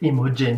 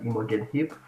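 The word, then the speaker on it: Imogen Heap: was pretty cool though when he said emojin he was like what is emerging he i typically pronounce it as imogen hip but uh it's nice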